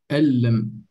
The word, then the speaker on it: أَنْ لَمْ: So the noon is silent. It's actually merged with the lam.